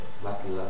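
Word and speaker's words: matelas: pas les prononcer alors est-ce que tu peux lire le mot matela sans e matela matela alors ça c'est la bonne prononciation celle ou tu élimines directement le E et on est l'articule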